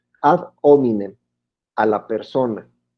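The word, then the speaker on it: ad hominem: es ataque de eminem en latín la h no se pronuncia a eminem a la persona y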